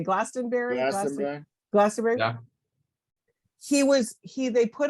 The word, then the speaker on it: Glastonbury: changes at GLA how do you say Glastonbury Glastonbury he was he they put him on it